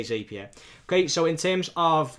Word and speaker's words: Zapier: to pay for Zapier, depending on how you want to pronounce it. I say Zapier.